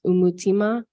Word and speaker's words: umutima: portion of the presentation is um pronounced umutima Africa which means the heart of Africa and karundi um which